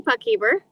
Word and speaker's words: Puckhaber: My name is Puckeer. Would you have been close pronouncing?